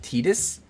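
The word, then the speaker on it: Tidus: Sorry, everyone in the comments last time told me I needed to pronounce it Tetus. Um, but I don't know. When I was playing this game growing up and stuff, I always pronounced it Titus.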